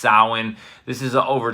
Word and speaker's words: Samhain: Festival of sowin it's spelled Samhain but it's pronounced sowin this is over 2 000 years ago and